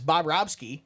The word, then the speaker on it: Bobrovsky: And yes, that's how you correctly pronounce his name, is Bobrovsky, when he has games like this.